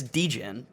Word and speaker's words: degen: short for degenerate yes you say it like bogan like an australian person oh the way i pronounce yeah deegan like like bogan it's dejin yeah but i say